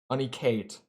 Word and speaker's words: Aniket: Aniket. Hold on. Aniket. Aniket. Aniket. Aniket. They like spell out the pronunciation almost the same way, like with the UH, but it's like a ah.